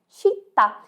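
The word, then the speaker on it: città: e Tita você acertou em português nós temos o c mas ele tem um som diferente como cinema cidade mas em italiano tem outro som então cinema é cinema e cidade é Chita esteja atento na sua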